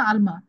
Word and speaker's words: Alma: এটার নাম কি, এলমা, ALMA, এলমা না আলমা, উচ্চারণ আপনার নামের? আচ্ছা এলমা, আপনার স্টুডেন্ট আইডিটা বলেন তো।